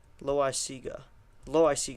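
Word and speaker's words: Loáisiga: Loaisaia, that's what it is. Loaisaia. That's a way to pronounce it.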